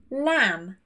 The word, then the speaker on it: lamb: So when the final two letters of the word are MB, we do not pronounce this B. Lamb, thumb, comb, no B.